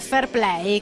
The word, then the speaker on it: fair play: vedere un'altra parte del video che riguarda il fairplay che come ben Sap vi questi campionati da racconto sempre di Paolo patui si pronuncia fair play ma in realtà è come